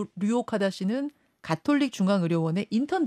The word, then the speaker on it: 류옥하다: 잠깐 좀 설명을 드리자면 성희 류옥네 맞습니다 그렇죠 이름이 하다 이렇게 되시는 거죠 류옥하다 씨 인턴과 레지던트를 합쳐서 전공이라고 부르는데 그 류오 카다 씨는 가톨릭 중앙 의료원의